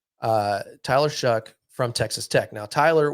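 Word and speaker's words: Tyler Shough: guy that we're looking at here is Ty Tyler shuck that's how you say his name uh Tyler shuck from Texas Tech now Tyler was originally at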